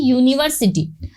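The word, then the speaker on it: university: वैसे ही यूनिवर्सिटी, तो आप इसको प्रोनाउंस करके देखेंगे तो यहाँ पर इसका प्रोनाउंसिएशन यू में आ रहा है, यूनिवर्सिटी, ना कि ये वाले साउंड में आ रहा है।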